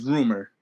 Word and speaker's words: Rmr: and the last person is rumor but it's spelled rmr um i love his